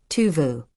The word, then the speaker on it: Tove: Her name was Tove, pronounced Tuvu.